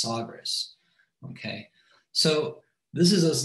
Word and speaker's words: Sagres: which is known also as, I think it's pronounced Sagres.